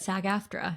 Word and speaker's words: SAG-AFTRA: And honestly, Maddie, I don't know if I'm supposed to say these letters or spell it out, a SAG-AFTRA performer. You were so good. SAG-AFTRA.